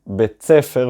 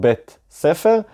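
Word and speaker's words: בית ספר: Note that Israelis pronounce this word in spoken Hebrew as tsadi, betsfer and not beit sefer because in fast speech the ת and ס, as I said, become the sound צ.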